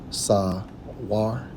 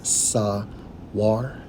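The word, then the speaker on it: סור: Now, for degenerate, it's Strong's H5494, pronounced as Sawar. Sawar. Again, Sawar.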